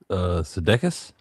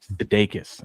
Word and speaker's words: Sudeikis: Sudeikis. Okay, Jason here. Oh, Jason Sudeikis. Yeah. Sudeikis.